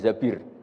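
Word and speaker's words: الزبير: nikah sama Abdurrahman bin Zabir, di hadis ini bukan bacanya bukan Zubair tapi Zabir, Abdurrahman bin Zabir.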